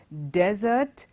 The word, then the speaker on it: desert: Spelling of both the words are very similar, but the pronunciation is different. Desert, dessert. Desert, dessert.